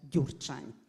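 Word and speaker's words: Gyurcsány: or lie speech of mr dur chime that's how you should pronounce this crazy name occupy the wall street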